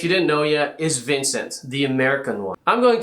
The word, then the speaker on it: Vincent: So this is Vincent. It is Vincent. Please check your pronunciation. I am French. I am in La France, not in America.